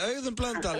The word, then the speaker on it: Auðunn Blöndal: Hey, I done blonde, am I saying it right? Yeah, Auðun Blöndal, yeah.